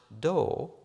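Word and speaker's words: 道: It is pronounced do and is often represented by the English words way or path.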